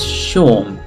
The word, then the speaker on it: Seam: The name's Seam, pronounced Sean.